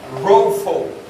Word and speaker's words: Rapha: Et la prononciation, au fait, c'est Ropho. Ok? R-A-W, P-H-W, Ropho.